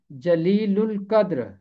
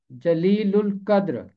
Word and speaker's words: جلیل القدر: ملے گا، اور الف لام میں لام کی آواز خاموش نہیں رہے گی کیونکہ لام کے بعد قاف حرف قمری ہے۔ جب الف لام کے